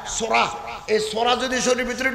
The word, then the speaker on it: psora: বিজ্ঞানীগণ বলছেন, মনের ভিতরে যদি কুধারণা আসে, কুখেয়াল আসে, রক্তের ভিতরে একটা উপাদান আছে সোরা, PSORA, পিটা উচ্চারণ হয় না, সোরা।